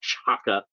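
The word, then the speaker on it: T'Chaka: his father's name is tachaka they put like a actually Shaka is spelled like with a T at the beginning of it often times but it's like a a soft T like Chaka but uh I don't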